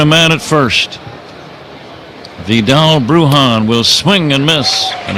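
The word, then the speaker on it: Bruján: Yeah, Brujan has the accent over the A, Yeah. and the reason is it's used to indicate a stress mark in pronunciation. Brujan.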